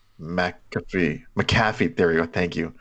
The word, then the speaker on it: McAfee: McAfee, there we go, thank you.